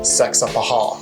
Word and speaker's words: Saxapahaw: Saxapahaw. Saxapahaw.